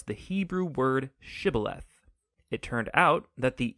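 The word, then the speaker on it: שיבולת: pronounce the Hebrew word shibboleth. It turned out that the Ephraimites had grown up pronouncing that word differently, so instead of saying shibboleth, they would say sibboleth.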